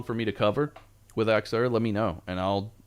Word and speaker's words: Axure: know showcase a Xerxure people call it aerure. It's Axer. That's how you say it. Axer.